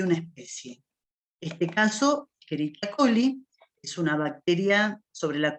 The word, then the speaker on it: Escherichia coli: Se lee Escherichia coli y no Escherichia, esto es latín, y la CH se pronuncia como en el italiano.